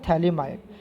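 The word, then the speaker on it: phthalimide: क्या बोलते थे, PTHA, प्रोनाउंसिएशन ऐसे होता है, PTHALIMID, इसको बोलते हैं थैलिमाइड।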